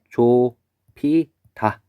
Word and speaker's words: 좁히다: 그다음에 좁히다도 볼까요? 좁히다는 아음절에 비읍과 디음절에 히읗이 만나서 조피다 이렇게 정리해 볼 수가 있겠습니다.